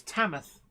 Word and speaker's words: Tamworth: um warbler production says it's tamath for Tamworth and WinCo for WinCo thank